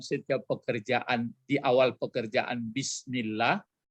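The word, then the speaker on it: بسم الله: pekerjaan di awal pekerjaan bismillah jadi ditekan saja bacanya bisa aslinya sebenarnya di Ismi Hai atapi dia hamzahnya tidak dibaca bisnis itu makanya seperti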